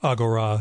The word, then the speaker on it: Agora: called three-fifths it's from Agora or Agora if you're going with the ancient Greek pronunciation the new imprint of